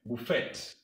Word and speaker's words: Buffet: Buffet. Germans pronounce words according to their spelling.